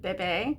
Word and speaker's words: bebe: I think in France they pronounce it bebe, kind of like Moira from Schitt's Creek.